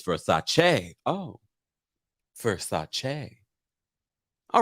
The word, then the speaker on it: Versace: um according to donatello we all pronounce versace wrong it's it's for sachet oh versace all right